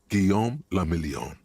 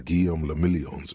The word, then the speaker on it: Guillaume le Million: People made gold and champagne-tinted interiors, and for Revachol, your city, that meant only one thing: Guillaume le Million. If it doesn't rhyme, you're not pronouncing it right.